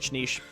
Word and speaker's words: niche: niche thing that, like, niche, by the way, they're both correct pronunciations, such a niche thing